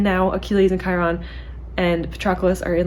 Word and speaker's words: Patroclus: for me to remember patroclus patroclus okay I used to call him petrocalis which is now that I think about a horrible pronunciation so yeah he told